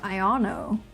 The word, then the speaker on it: Iono: like io's character design I guess You' pronounce her name iono cuz it's like ion this guy is really